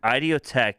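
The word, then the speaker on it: Idioteque: for three years running it's I Tech it's spelled i d i o t q u e oh that makes sense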